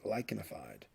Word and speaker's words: lichenified: and that is termed lichenified. The CH here is pronounced like a K, lichenified.